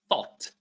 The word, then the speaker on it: thought: Number three thought.